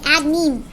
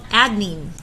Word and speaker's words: adenine: This little guy's called adenine. And sometimes I say adenine. That's how I remember, but really if you're in Germany, maybe you would say, I'm going to add nine. Adenine, spelled 9. Ends in I-N-E, adenine.